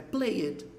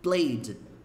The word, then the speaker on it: played: é a pronúncia dela talvez você pense é Player Player original não é Player Então é isso aí é Play and Pois é a pronúncia essa palavra aqui assim ó played play play não é Player at Lady